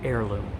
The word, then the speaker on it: heirloom: don't know heirloom heirloom remember the letter H is silent heirloom so easy yes alien